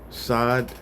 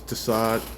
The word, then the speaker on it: Sad: I go by Sad. Some pronounce this Tassad, that's fine.